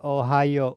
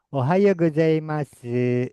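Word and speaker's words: おはようございます: Ohao u. O U dibacanya O. Ohao. Coba. Ohao. Oha. Ohao. Ohao. Ikuti saya. Ohao. Ohao. Ohao. Ohao. Goai masu. Masu dibacanya mas. Kalau perempuan boleh ya.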